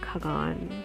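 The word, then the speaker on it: Kaghan: When we were younger, our parents used to take us to Naran and Kagan, that's the right way to say it, in our summer holidays.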